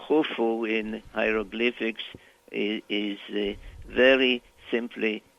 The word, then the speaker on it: Khufu: sieve that is pronounced so it's U, F, U, Khufu, which we call Cheops in English.